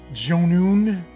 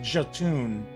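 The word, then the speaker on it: Jötunn: So here, interestingly enough, the Jotun, or Jotun, I think it's pronounced Jotun, edition of Bad North just came out over the summer, like late summer.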